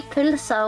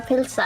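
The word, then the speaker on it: pylsa: And the pulsa is more like I think the Danish said it, but a lot of people in Iceland say pulsa or pilsa.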